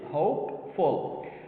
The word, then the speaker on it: hopeful: Hopeful. Now, the stress is in the first syllable.